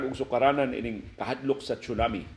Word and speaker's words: tsunami: Ang spelling kanang tsunami is a Japanese word. Ang iyang spelling tsunami, Tsunami. Pero ang westernized nga pronunciation ana tsunami. Pero kita dinhi sa Pilipinas atong nabasahon sa literal tsunami.